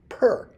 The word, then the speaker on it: pr: But in ancient Egypt, of course, we know that a house was drawn as a overhead plan and is pronounced per.